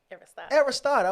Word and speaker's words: Aristote: Aristotle.